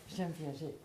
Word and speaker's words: Jean Piaget: Es que lo pronuncias en francés. Jean Piaget.